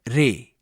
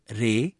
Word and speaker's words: रे: स्वर रे, हिंदुस्तानी संगीत में उच्चारण रे, कर्नाटक संगीत में उच्चारण री।